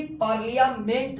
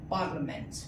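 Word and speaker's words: parliament: जैसे अब देखिए यहां आपका आई साइलेंट है। कभी भी पार्लियामेंट नहीं पढ़ना है। क्या पढ़ेंगे? पार्लियामेंट।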